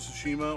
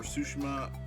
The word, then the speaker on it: Tsushima: played it ghost of tsushima or sushima tsushima i think that's how you say it uh this is one